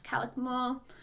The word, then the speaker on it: Calakmul: here's one that I don't know how to pronounce but calakmul CIL aka K mu L it's calakmul there's not as many crowds there it's near